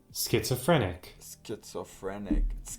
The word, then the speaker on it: schizophrenic: It's a skit, it's a phrenic. So it's a skit. Okay. A schizophrenic.